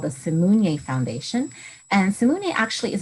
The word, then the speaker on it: Simunye: Yes, the name of the foundation that I founded is called the Simunye Foundation.